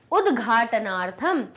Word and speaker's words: उद्घाटनार्थम: निर्माणम, भ्रात्रा, कर्मकराः, जिज्ञासा, पित्रे, भ्रातृणाम, उद्घाटनार्थम। अब ये उद्घाट ऐसे कर लीजिए, नार्थम अलग कर लीजिए, बड़े शब्द को तोड़कर बोल लीजिए।